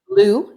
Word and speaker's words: Lou: How do you pronounce his name? Lou, L-O-U.